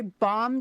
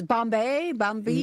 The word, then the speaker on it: Bombe: Raspberry Bomb Day? I used to thought it was like bombers. Bombay? No, it's actually pronounced BAM, believe it or not.